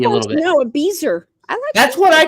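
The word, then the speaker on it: Bézier: No, a beezer. That's what I call it, beezer. Okay, my beezer curve. I got you. Okay, I'm going to go do a beezer. The spelling, no, the pronunciation. Bezier, but I mean, yeah.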